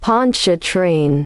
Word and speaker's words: Pontchartrain: Pon a train okay L Pon train Lake Ponch a train I got you I got you okay so